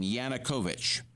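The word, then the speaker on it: Yanukovych: uh and the head of this party now pronounce his name yanukovich yes yanukovich right have I said it correctly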